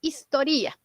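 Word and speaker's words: ἱστορία: o historia ya de la manera correcta de pronunciar es historia de acuerdo Entonces etimológicamente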